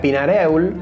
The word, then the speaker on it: Pinareul: Croza se puso como apodo su lugar de origen, que en piamontés se pronuncia Pinareul y que el habla popular finalmente lo terminó de deformar en Peñarol.